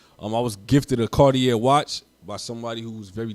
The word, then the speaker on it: Khardier: my name is cartier a lot of people don't know how to pronounce my name it's pronounced cartier the god right god stands for